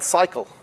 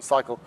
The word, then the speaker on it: SYCL: Again, this is called SYCL, if you want to pronounce it. I think that is the correct pronunciation, SYCL.